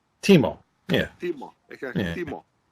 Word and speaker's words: Timo: In Finnish language, you always pronounce exactly as you write the words. See over here, it's Timo. It's spelled Timo.